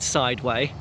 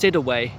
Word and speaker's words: Sideway: We're in a place called, well, I don't think it's called Sideway. I think it's pronounced Sidaway for some reason.